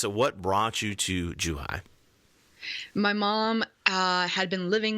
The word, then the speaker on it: Zhuhai: were recently here in Zhuhai if I'm pronouncing it correctly ish yes that's great true hi is perfect excellent and what's that what brought you to Joo hi my mom had been